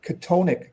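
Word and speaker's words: chthonic: So, well, it's it's spelled funny. It's spelled C H T O N I C. Katonic.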